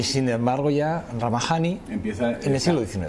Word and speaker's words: Rhamajani: contarlo bien, porque realmente Ramajani, es que él me ha dicho que no lo pronuncie como realmente deberíamos de pronunciarlo, me ha dicho que hay que españolizarlo, y entonces Ramajani.